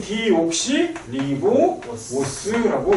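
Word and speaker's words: 디옥시리보오스: 그럼 DNA는 디옥시 리보오스라고 읽어야겠죠. 어려운 단어인데 지금 외워 그냥.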